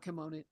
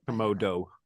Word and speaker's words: Komodo: Not kimono. What? Komodo. Komodo.